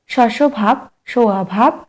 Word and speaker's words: স্বভাব: ধ্বনি ছ নম্বর প্রশ্ন স্বভাব এই শব্দটির উচ্চারণটি হল শসভাবভাব স্বভাব অভাব এখানে স্পেলিং গুলো একটু দেখবে সঠিক আনসার হবে এ শসভাব সাত নম্বর প্রশ্ন সিংহ